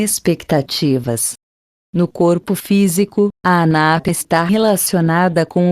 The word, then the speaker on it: Anahata: Chakra do coração, se pronuncia Anahata.